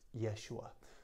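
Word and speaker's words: יֵשׁוּעַ: was written as Jesus in Hebrew Joshua's was pronounced Yeshua so when when written in Greek it was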